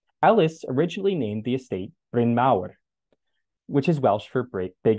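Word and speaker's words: Bryn Mawr: Quaker Roland Ellis Ellis originally named the estate Brin maau which is Welsh for big hill by the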